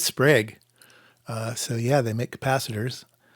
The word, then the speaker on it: Sprague: So it's not Sprague. It is Sprague.